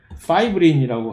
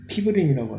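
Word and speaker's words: fibrin: 이와 비슷한 형태로 우리 나중에 우리 순환계에서 보겠지만 혈액 응고를 이렇게 시작을 시키는 그 효소인 파이브린이라고 하는 피브린이라고 하죠. 피브린. 원래 영어 발음은 파이브린이라고 하는데 이거 역시 파이브리노전이라고 하는 일종의 자이모전이 활성화가 됐을 때만 파이브린으로 변화가 됩니다.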